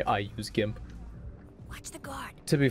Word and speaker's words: GIMP: It's not pronounced GIMP, it's pronounced GIMP.